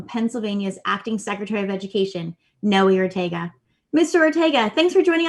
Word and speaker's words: Noe Ortega: start on if it's okay with the brief pronunciation of my name which is noe ortega just uh it's one of those three letter